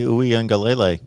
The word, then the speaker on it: Uiagalelei: I always say Uiagalelei. That's what I thought the pronunciation was. Yeah, Uncle Lou was on the show. I think he called him. Yeah, Uncle Lou called him ukulele, I think. But that's it's actually fairly close.